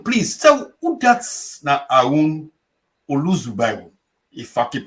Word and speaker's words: Aroun Zubairu: Aroun, please tell who that's na Aroun Zubairu. If I can pronounce him properly, I stand to be corrected. Yes, my name na Aroun Zubairu.